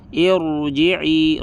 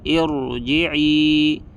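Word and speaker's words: ارْجِعِي: berharakat kasrah di sini apabila kasrahnya tidak asli maka cara membaca rnya tebal contohnya irji'i rnya tebal irji'i irji'i oke nah Apa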